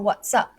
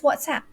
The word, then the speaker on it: WhatsApp: is it whatsapp or whatsup right that application uh software that we're using that app that app that we're using the correct ways whatsapp but we do hear some malaysians say right what's up but you know